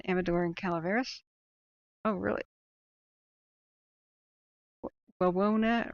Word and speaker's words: Wawona: Wawona rhymes with Winona.